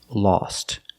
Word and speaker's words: lost: time in the past lost the O is pronounced with the ah sound like saw and all lost he lost track of